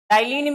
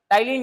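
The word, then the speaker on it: ptyalin: एन ए टाइलीन enzyme टाइलीन में P silent होता है टलीन एंजाइम ठीक है अच्छा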